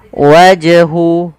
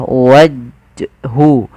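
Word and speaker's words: وَجْهُ: wajhu wajhu Sama kesalahannya tidak boleh apa yang pertama tidak mantul itu kesalahan wajhu yang kedua menambahkan Hamzah waju waju ini nambah kemudian hya harus diperjelas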